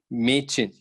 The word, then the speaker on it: Mädchen: Okay, Mädchen. Similarly, boy is pronounced as Junge.